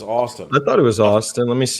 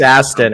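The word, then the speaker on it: Astin: doing that because Aston or Austin? I always thought it was Austin. I thought it was Austin. Let me see. It's probably Austin. It's probably Austin. It's It's spelled like Austin as in It's Aston. A S T I N. So, it's Aston.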